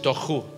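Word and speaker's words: תֹהוּ: Y cuando habla de caos, la palabra en hebreo es tohu. Diga conmigo tohu. Pero el hebreo es gutural. Se pronuncia con la garganta.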